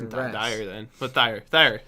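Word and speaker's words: Thire: They have Thayer, why was Jack, I pronouncing and Rex. Dyer then? But Thayer. Not Dyer.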